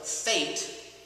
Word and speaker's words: Faeit: So Faeit is how you say it. Yes. But it's spelled F-A-I-E-T. I believe, and I should know it. It's Faeit. It's F-A-E-I-T. E-I-T. Yes.